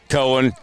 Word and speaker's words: Cohen: corner and Conan harder Cohen with an AIDS yeah that was my cover my first question so thank you Cohen silent H so here we got